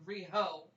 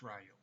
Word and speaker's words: Riho: Well, it's basically you want to look at it like Rio de Janeiro, there, Bobbin, not like Rio. It's Ryo.